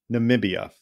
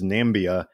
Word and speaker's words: Namibia: me ask you about namibia because namibia is a country that perhaps sadly got more attention in the last four years because of the former president's mispronunciation of it as nambia than for almost any